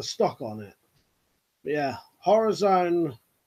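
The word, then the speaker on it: Horizone: But yeah, Horror Zone. It's spelled HORI/zone, Horror Zone, redback, £80 pistol crossbow.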